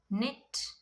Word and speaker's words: knit: So in the beginning, if you get K and N words, the K becomes silent. You have to pronounce the N sound. So examples: knife, knee, not, knit, know, known, knowledge, knuckle, night, new.